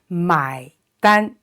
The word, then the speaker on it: 买单: is a n and it's pronounced exactly like the English word an so an the first